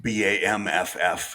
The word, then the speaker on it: Banff: Calgary and Banff and or Banff, Bamff is how they pronounce it, even though it's Banff.